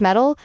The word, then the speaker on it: MTIL: MTIL pronounced metal is a layered framework.